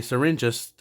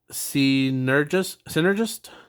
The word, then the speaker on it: Synergist: extinction, Hajime's job, a syringist, I think that's how you pronounce it. No, not sir. It doesn't have an R. Synergist only has a single transmutation skill.